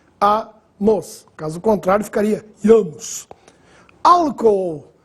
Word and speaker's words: álcool: caso contrário ficaria iamos álcool essa divisão silábica é interessante alco a sílaba tônica é a primeira no caso a antepenúltima